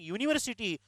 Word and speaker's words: university: But same U is there while saying university, pronunciation never come with a.